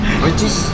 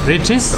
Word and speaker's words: Richeese: How do you pronounce this restaurant? Riches. Riches.